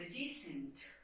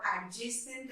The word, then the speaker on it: adjacent: Whenever there will be D and J together, it's a thumb rule of this language that you won't pronounce D. The more examples are the word adjacent, the word adjective, adjourn. So you will try to skip D into it. D, you cannot pronounce D and J like D and J like adjective or adjacent or adjourn.